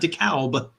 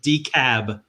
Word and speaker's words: DeKalb: south and i moved into dekalb county not dekalb but decab dekalb county but however in illinois they do pronounce it dekalb and that's where barbwire was